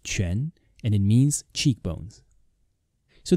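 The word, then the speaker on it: 颧: It is pronounced quan, and it means cheekbones.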